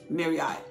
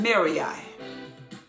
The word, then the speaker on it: Merari: The sons of Levi, he had three: Gershon, Kohath, and Merari. Or Merari. Now, I don't know how to say it. M-E-R, near, Rai. Merari. Merari.